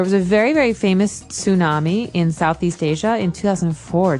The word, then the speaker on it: tsunami: they may have a tsunami. Well, this doesn't sound very English, does it? I know, tsunami. And actually, if you see the spelling, it's with a T, T-S.